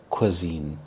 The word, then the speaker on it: cuisine: when you go there cuisine cuisine is a specific type of food to a place or a country this word quisine is pronounced as quisine so qu as in quick I as in it and Zen rhymes with